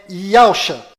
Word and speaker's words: Yahusha: O verdadeiro nome do Messias está do lado direito da sua tela e a pronúncia dele é Yahusha.